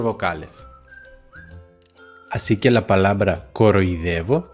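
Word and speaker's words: κοροϊδεύω: Así que la palabra coroidevo se escribe con dialítica, los dos puntitos, para indicar que las dos letras se tienen que pronunciar separadas.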